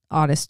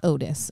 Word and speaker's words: Ottis: It's not Otis. It's Ottis.